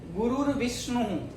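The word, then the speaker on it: गुरुर्विष्णु: गुरुर विष्णु, यहाँ भी रेप दिया है।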